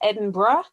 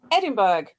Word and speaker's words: Edinburgh: Now, I know that in the UK it's Edinburgh, but they pronounce the manor Edinburgh. So it's not me mispronouncing it. That's the local pronunciation of the word. So any Scots listening to this who are annoyed that I'm mispronouncing their city, I'm not, I promise. It's how they pronounce it locally.